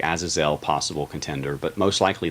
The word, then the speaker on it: Azazel: And the emphasis is always on the last syllable in original Hebrew. So it's not Azazel, it's Azazel, basically.